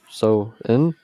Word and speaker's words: Samhain: According to Meta AR on WhatsApp, Halloween originated from the ancient cultic festival of Samhain, Samhain, or So-in. So that's weird pronunciations.